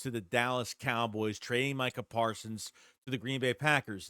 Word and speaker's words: Micah Parsons: He's still saying Micah Parsons' name wrong. He's calling him Michael Parsons.